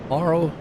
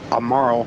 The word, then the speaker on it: Amaro: Yes, I always would pronounce it that as well, but it's Amaro.